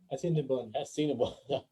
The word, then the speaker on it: Assiniboine: Ano ulit yung pinapronounce natin sa kanina? Assiniboine. Parang Sinabon. Yeah. Sinabon.